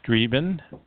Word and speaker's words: streben: And the German word streben, pronounced streben, means to strive.